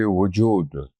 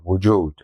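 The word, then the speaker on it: وجود: languages the word for is usually wjud w u j u d wjud which comes from the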